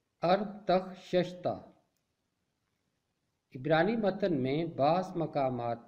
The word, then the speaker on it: ارتخششتا: تلفظ کرنا سیکھتے ہیں۔ پہلا نام ہے ارتخششتہ۔ اس کا درست تلفظ ہے ارتخششتہ۔ عبرانی متن میں بعض